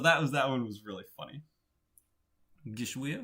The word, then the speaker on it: Geschwür: Geschwür? I think that was the better pronunciation. It's got like an upward inflection to it. It's like Geschwür.